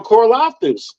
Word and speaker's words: Karlaftis: you're gonna have to start game planning around Karlaftis. Did I say his name right? I got it right. Yeah, I feel good. I felt good about that. You can't game plan around Karlaftis because you got a game plan for Charles